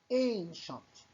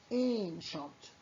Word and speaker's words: ancient: Ancient. And look here, C and I sometimes pronounced sha. C مع الآي أحيانا بنلفظها شا. Ancient.